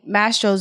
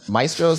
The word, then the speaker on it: Mastro's: I pronounce it Maestro's. Like it's Mastro's. Like it's Mastro's for sure.